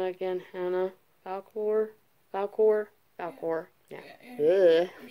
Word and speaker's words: Falkor: Falkor.